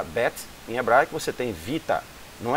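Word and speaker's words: βήτα: em hebraico, você tem Vita. Não é pronunciado Beta, viu gente? Beta está a pronúncia errada. A pronúncia da palavra realmente em grego é Vita, porque ela tem o som, assim como no hebraico, o Bet, ele tem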